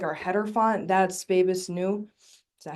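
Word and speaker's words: Bebas Neue: That's Babus New. Is that how you say it? Nue, Babus Nue.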